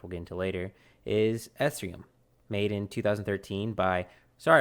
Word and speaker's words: Ethereum: the word you're looking for Mike is ethereum ethereum that's how you pronounce it I see I see I know